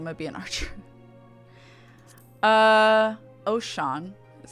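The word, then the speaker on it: Oschon: gridania because I'm gonna be an Archer uh oh Sean is how you pronounce it uh is the ruler of mountains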